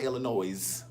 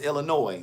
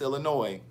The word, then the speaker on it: Illinois: It's Illinois, niece, not Illinois. It's Illinois. The S is silent. It's Illinois.